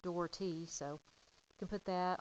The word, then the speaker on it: Dougherty: so start out with my name is dhy and so it's it's pronounced dhy so you can put